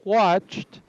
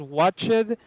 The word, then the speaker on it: watched: watched in this one you don't have to say has watch it because this one it's a silent pronunciation so this thing shouldn't be pronounced it just like this serene has watched a little bit of T sound at the end so like this it's